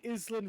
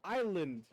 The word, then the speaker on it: island: he was part of island records little did he realize he was part of island records the s is silent english is up man they'd like to trick you that way well i i just